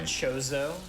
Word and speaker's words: Chozo: How do you say Jojo, by the way? Chozo. Jozo, yes. Because you know I have this accent, so I say Jozo.